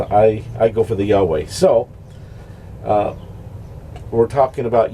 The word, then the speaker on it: Yahweh: and the V the that V can be pronounced like a w so that's how come you get the yah way yaave you know and uh